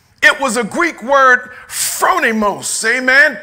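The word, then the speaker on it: phronimos: was intentional right it was a Greek word fronimos amen p h r o n i m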